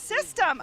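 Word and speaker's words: C-STEM: see stem B and C stem is pronounced system oh thank you guys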